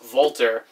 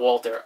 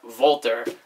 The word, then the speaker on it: Walter: defends the belt against voltar not Walter voltar like to say it like that and probably the biggest